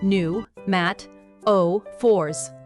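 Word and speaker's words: pneumatophores: Adaptation two, pneumataphors, pronounced new, matt, o fours, also known as breathing roots.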